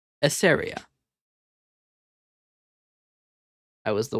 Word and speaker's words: Eseria: The correct pronunciation is Eseria. Eseria.